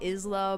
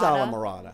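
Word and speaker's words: Islamorada: At first I was saying Isla Morada. No, it is Isla Morada.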